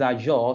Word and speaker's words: Azure: You know, I wasn't able to pronounce it well, but it's Azure.